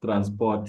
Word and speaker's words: transport: Don't pronounce the last R after O.